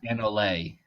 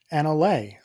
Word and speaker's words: anole: I believe Oh, it's Anole, Anole.